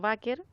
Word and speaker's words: Baker: oficina local de Rio Baker e no sé si se pronuncia así va a ser bien honesta Baker se pronuncia s la diputada la diputada Marcia Rafael tienen esto s Baker Ah ya por su